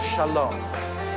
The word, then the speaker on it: shalom: And we're gonna go through the three syllables of shalom. The first syllable is sha.